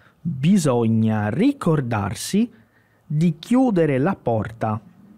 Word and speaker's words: bisogna: Então aqui eu tenho primeiro bisogna, bisogna. Esse a, bisogna, ele tem que roncar um pouquinho na garganta aqui, ó. Então não é o a simples, ele vai lá para trás.